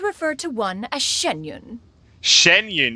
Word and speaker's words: Xianyun: Xianyun, that's how you say it. I was calling it Xinyun.